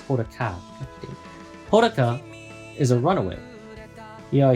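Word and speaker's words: Hodaka: Haruko is wait no, it's not Haruko. It's Horaka.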